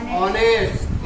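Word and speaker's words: honest: ऑनेस्ट। इसमें भी एच के पीछे ओ लगा है, मीन्स एच साइलेंट होगा, तो क्या होगा? ये ऑनेस्ट।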